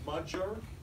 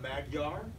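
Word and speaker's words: Magyar: mean for example pronunciation gy it's pronounced like a j and so this is actually pronounced muder not magar how would you pronounce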